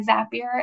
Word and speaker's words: Zapier: if you're not sure how to say zapier and you need to remember it rhymes with happier next up this one